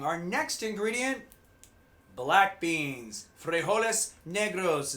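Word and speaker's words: frijoles negros: next ingredient black beans frejoles negros is how they say it in espanol great alternative to meat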